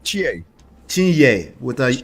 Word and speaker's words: Chinye: Chinye. You have to pronounce the ye like a yes.